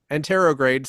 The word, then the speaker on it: anterograde: I keep making antrograde these plans. amnesia. That don't work. You have It's like it's antrograde. Am I saying it right? What is the guy have in this movie? anterograde. Sometimes I feel like Anterograde.